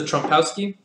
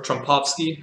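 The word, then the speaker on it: Trompowsky: So this is the Trumpowski, or Trumpovsky, however you want to pronounce it.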